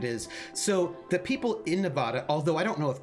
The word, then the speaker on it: Nevada: But I do know it's a thing that like if you're like a politician or whatever and you're like going to go to Nevada, and you call it Nevada, then like no one will vote for you or whatever.